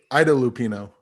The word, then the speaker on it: Ida Lupino: I know the name and I forgot how to pronounce it correctly. Ida Lupino.